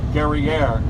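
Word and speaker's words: Guerriere: when she encountered the HMS gerer which you're all noticing rhymes with the word derer which in fact was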